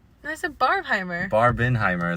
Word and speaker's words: Barbenheimer: said that's a barbheimer barbin Heimer is how it's pronounced it's Jewish okay fair